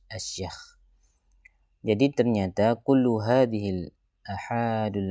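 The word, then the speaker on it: أشياخ: Bacanya asyakh.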